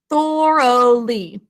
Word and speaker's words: thoroughly: think to spell thoroughly thoroughly three syllables the first syllable is just like the norse god thor or two sounds next